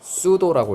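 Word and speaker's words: pseudo: 수도 사이언스 들어본 적 있니? P가 묵음이야, 라틴어라서. 못 들어봤어요? 이거는 이 수능 단어니까 외울게요, 여러분들. 이게 유사위란 뜻이에요. 수도라고 있습니다.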